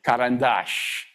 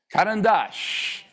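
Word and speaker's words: карандаш: It was the words that have an accent at the last syllable. I want you to say these because they're fun. Karandash. Karandash. Karandash, it's pencil.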